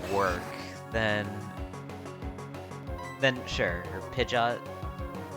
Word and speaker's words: Pidgeot: Or Pidgeot. Pidgeot, not Pidgeot. Pidgeot. Pidgeot. Cuz it's like pigeon.